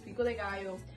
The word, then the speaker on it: pico de gallo: It's pico de gallo.